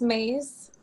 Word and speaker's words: Mais: It's Mais.